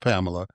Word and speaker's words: Pamelya: And then she took a secret with her to heaven because your name is spelled Pamelya. It's pronounced Pamela, but you put the